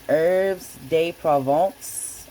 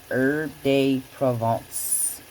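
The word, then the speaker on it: herbes de Provence: you have it, some herbs day provence. I said it wrong on my last video. It's called Herb Day Provence.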